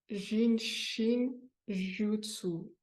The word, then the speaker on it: Jin Shin Jyutsu: Plus difficile, Juzu, c'est Ji-utsu, c'est-à-dire que le U se prononce en japonais ou jutsu. Répétez après moi sans ouvrir votre micro. Jinshin Jutsu.